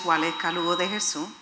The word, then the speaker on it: Waleka Lugo de Jesus: Our stories make us, and my name is Waleka Lugo de Jesus. I'm purposely pronouncing it the way it should be.